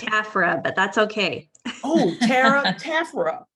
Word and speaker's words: Taffera: If I pronounced that incorrectly, girl, go ahead, come off mute and let us know how it should be pronounced. It's Taffera, but that's okay.